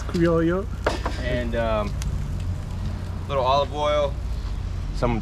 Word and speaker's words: Criollo: pronounce it. It's Criollo.